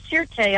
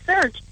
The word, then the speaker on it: Sirte: Right, and I guess it's referred to in your article as a fallback caliphate city, this Sirte. I don't know if I'm pronouncing that properly. Sirte. It's actually just Sirte.